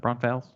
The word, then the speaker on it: Braunfels: it opens today that the proper way to pronounce that prompt fails wrong falls on fails yeah and BB n